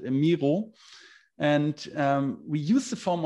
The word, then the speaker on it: Miro: So then I switch over to a software called Miro, or as we pronounce it, Miro.